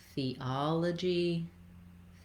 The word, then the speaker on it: theology: Notice that between the thea, I'm moving from the E to the ah. I might have a little bit of a y sound in there, theology. There's no, we're not going to see the glide in the IPA, and you don't need to intentionally put that y in there.